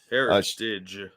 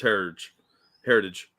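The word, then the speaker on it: Herridge: Heritage. It's like heritage, but with a D.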